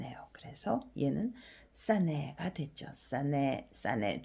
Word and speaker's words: เสน่ห์: 그런데 얘는 발음이 안 나죠.